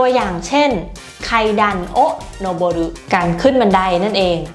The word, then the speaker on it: 上る: แปล ว่า ข้าง บน แต่ ว่า มัน อ่าน ว่า Nobody นะ อัน นี้ มัน จะ